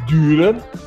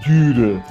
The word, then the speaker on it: Dürer: Aqui a gente tem Dürer. Como é que se pronuncia isso? Albrecht Dürer. Você fala o U como se estivesse falando a letra I.